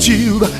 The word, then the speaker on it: tube: The word tube has two vowels, U and E. We use a long sound of U, and E is silent E.